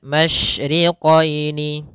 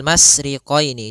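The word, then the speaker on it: الْمَشْرِقَيْنِ: sini ada huruf shin, maka kita harus membacanya dengan adanya sifat tafasyi. Apa itu tafasyi? Tafasyi adalah salah satu sifat yang terkandung di dalam huruf shin, yaitu menyebarnya suara. Sehingga jangan dibaca Rabbul masriqaini, jangan dengan huruf sin, tapi dia huruf shin.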